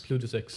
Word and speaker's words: Plutus X: Plutus X.